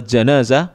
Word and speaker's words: jenazah: Al jinnazah atau salat jenazah boleh dibaca jenazah boleh dibaca janazah cara membacanya ya kalau